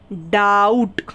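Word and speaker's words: doubt: ओ यू बी टी डाउट ठीक है इसे क्या पढ़ेंगे डाउट बी इसमें साइलेंट रहता है डाउट में ठीक है बी नहीं पढ़ते हम पढ़ते हैं डाउट क्लियर हुआ नेक्स्ट रूल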